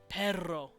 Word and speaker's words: perro: Spanish we know this because it's a Trill and it's on the AL veiler perro we know that sound